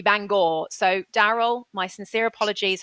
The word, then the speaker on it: Bangor: Daryl I sincerely apologize apparently I pronounced Bangor incorrectly um in Northern Ireland I called it Banger and it should be Bangor so Daryl my sincere